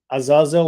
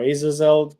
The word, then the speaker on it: Azazel: I don't know if you want to say anything about Lilith and Azazel or Azazel. There are different ways you can pronounce this being.